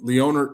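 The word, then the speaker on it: Lone'er: Leoner Leoner Kavanaaugh.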